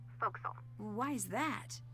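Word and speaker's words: forecastle: ship but it's pronounced fo'c'sle why is that try pronouncing it like an English sailor with no formal education Oh over time it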